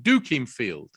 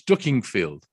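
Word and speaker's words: Dukinfield: the the person that's saying it is saying duking field you come to our store in duking field and i said it's ducking field but you don't that's how you pronounce it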